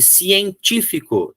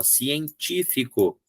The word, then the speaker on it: científico: Então, aqui, científico, eu quero que seja a terceira. Ó, científico. Não existe proparoxítona natural. Ó, 1, 2, 3. Científico é a terceira de trás para frente. Então, eu preciso ter o acento agudo aqui.